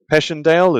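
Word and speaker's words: Passchendaele: He has the eighth battalion, London Regiment, 20 September 1917, Passanddale as most people pronounce it, although I think in French it's Pandale.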